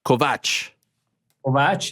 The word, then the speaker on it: Kovacs: Is it Kovacs? I mean, if you go to Hungary, where I was born and where I live, it's you say Kovacs. Kovacs, yeah. But everywhere else, mostly it's Kovacs.